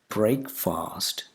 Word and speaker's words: breakfast: Breakfast. It's not breakfast, it's breakfast, breakfast. The first vowel sound is not A, it's E.